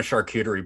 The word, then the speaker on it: charcuterie: There's definitely been a charcuterie board named Sweet Meat. Is that how you say that word? Yeah, charcuterie.